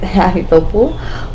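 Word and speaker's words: Ahithophel: Ahithopel," I figured out how to say it, Ahithopel, was with him.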